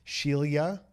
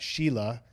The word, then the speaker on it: Shelia: So, but no, she got tired of people not being able to pronounce her name properly because it's Shelia, and it's not Sheila, which is more common.